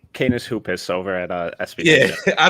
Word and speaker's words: Canis Hoopus: I always butcher the T-Wolves site. Can you give us that, Tyler? Yeah, it's Canis Hoopus over at SBN.